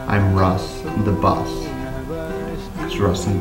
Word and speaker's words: Russ: I still somehow got so Russ the bus became Russ the boss and I had to say no no no it's Russ the boss not Russ